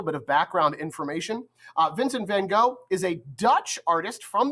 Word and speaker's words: van Gogh: would have been pronounced Vincent Van go uh van go is the Americanized way to pronounce his name so I I still